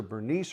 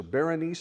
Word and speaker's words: Bernice: agrippa and agrippa's sister bernice or berenice however you want to pronounce her name and then it was